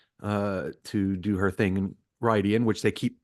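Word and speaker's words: Rhuidean: I'm like, that's how you would pronounce it if you just like phonetically did it. But remember, comes from a different language, the old tongue. So, Rydian is the actual pronunciation, but that's nitpicking.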